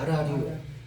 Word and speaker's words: 알랄리오: 알랄리오인데 첫 번째 알 니을이 다음 음절에 첫 소리로 발음되니까 아라가 되죠. 두 번째 알의 그 니을이 또 다음 음절에 첫 소리로 발음되니까 이오입니까? 리오입니까? 리오가 되는 거죠. 리오. 그래서 알랄리오가 아라리오. 이렇게 발음이 된 거예요.